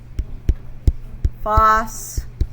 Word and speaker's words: phosphide: Sodium phosphide. Remember, we have the metal first and then the phosphide is two syllables ending in eyid.